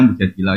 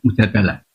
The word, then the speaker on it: Mujadilah: Makanya di Quran ada surat Mujadilah, yang benar itu bacanya Mujadilah yang level A, tapi umumnya orang baca apa? Mujadalah.